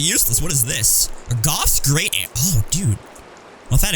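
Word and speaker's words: Gough: uh i i think most people would have pronounced his name go but i just kind of assumed it was goff right away and then he confirmed it um but that's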